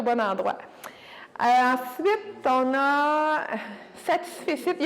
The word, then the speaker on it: satisfecit: Satisfecit, il faut prononcer le T de la fin, même s'il n'y a pas de E.